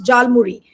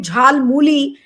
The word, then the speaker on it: Jhalmuri: Now, number one, people have been accusing that Prime Minister did mispronounce Jhalmuri. He called it Jhalmuli, and that's how people have reacted.